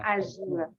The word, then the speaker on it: Arjuna: Como no se pronuncia como Arjuna, sino que como Arjona, el Arjuna. cantante, sino que se pronuncia como Arjuna. Arjuna, Arjuna, Arjuna.